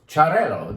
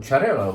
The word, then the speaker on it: Xarel·lo: Xarel·lo. Xarel·lo is the correct pronunciation of this grape that starts with an X. Correct pronunciation according to the Catalans.